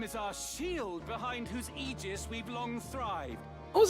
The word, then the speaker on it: aegis: Indeed, the Beowulf name is our shield behind whose aegis we've long thrived. Oh, is that how you pronounce that? Aegis?